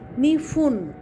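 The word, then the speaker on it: にふん: নিফুন দুই মিনিট প্রিয় ছাত্রছাত্রী একটু খেয়াল করো কোথাও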